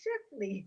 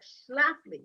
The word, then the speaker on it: Schlafly: to me was mrs shifley you know phyllis scheffly yeah i remember exactly thank you yeah that was one of the things you wrote kept mispronouncing her name yeah phyllis shaffley uh schlafly yes 2x and the